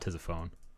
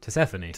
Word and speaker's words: Tisiphone: I don't get it that's how you pronounce it - Stephanie - Stephanie like Persephone it's not Persephone it's